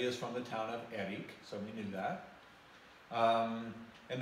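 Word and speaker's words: Héric: So when we went to Eric, H-E-R-I-C, with the accent on the first syllable, so I kept saying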